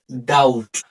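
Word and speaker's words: doubt: ট হয় এবং এইখানে বি অনুচ্চারিত থাকে। ডাউট ডাউট অর্থ সন্দেহ।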